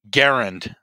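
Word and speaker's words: Garand: wrong cause i'm embarrassed um garend yeah rhymes with m1 yes exactly um they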